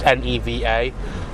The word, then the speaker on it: Neva: which I probably should have asked how to pronounce um cuz I never did it's neeva we're going to talk about that we're going